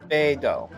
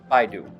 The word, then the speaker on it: Beidou: And in case you are curious about this character's pronunciation, it is Beidou, not Baidu.